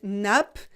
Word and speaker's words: nappe: voix élire le vocabulaire on commence avec une nappe des nappes une nappe des nappes on ne prononce pas le final et le s final